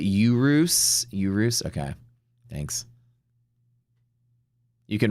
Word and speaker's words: Urus: You pronounce it urus.